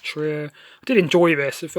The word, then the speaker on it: Trier: bill Lars von Trier Trier I think is pronounced true I did enjoy this